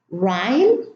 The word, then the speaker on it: rhyme: Now, the H here is preceded by an R at the beginning of the word, or when it's in the middle, even in the middle of the word, and the H is silent.